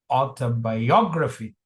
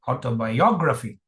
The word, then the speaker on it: autobiography: So now we have this primary stress here. The secondary stress is here. It's autobio autobiography. It is not autobiography. It is autobiography.